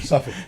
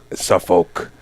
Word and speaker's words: Suffolk: Suffolk. You don't say the L, right? No L. Okay. All right. Yeah, no L. Only wins around here. Yeah. Suffolk.